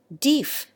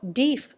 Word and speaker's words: deaf: to influence american pronunciation his advocacy of deef for deaf had popular support while he lived and he dredged up authority for it out of chaucer and sir william temple but the present pronunciation gradually prevailed though dief remains familiar in the common speech joseph e worcester and